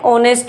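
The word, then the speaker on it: honest: एन ऑनेस्ट मैन।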